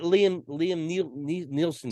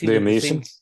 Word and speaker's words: Liam Neeson: Like even that Liam Nielsen guy, he's great, but it's Liam Neeson.